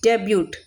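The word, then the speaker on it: debut: डेब्यूट। Spelling तो डेब्यूट होती है लेकिन टी साइलेंट होता है इसलिए डेब्यू बोलते हैं।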